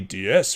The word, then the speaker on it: DS: is because in the french language ds is pronounced exactly diaz which means goddess which is lovely there was